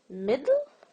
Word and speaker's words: middle: Is it middle, middle, or middle? Dull. You feel like there is a short E here. Middle. So, sometimes there are vowel sounds that are not represented with vowel letters.